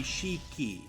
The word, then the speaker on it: Shiki: we go yeah so you could pronounce that name a few different ways right because if you're if you're spelling out the Japanese letters it would be Shiki to be like cheeky but usually when you